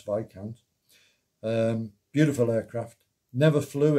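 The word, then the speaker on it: Viscount: airlines um but they had to be taught how to pronounce vikant um beautiful aircraft never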